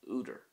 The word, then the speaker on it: údar: For example, the Irish word for an author is úidir.